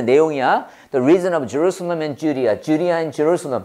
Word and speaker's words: Jerusalem: Jerusalem. 렘인데 럼이 럼. Jeru. Jeru 봤죠? 어발음이야. 어발음. Jerusalem.